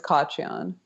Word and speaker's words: Khachiyan: It's Khachiyan. Is it Khachiyan? Yeah. It's technically Khachiyan because it's an Armenian name. You don't say the K, but that sounds like you're like choking on a pubic hair, you know?